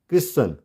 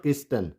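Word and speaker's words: Christian: एंड क्रिश्चन, क्रिश्चन, नॉट क्रिस्टन, ठीक है, क्रिश्चन। Clear. आगे बढ़ेंगे वीडियो में। टी कब साइलेंट होगा उसका थर्ड रूल है, इफ a word ends in STLE।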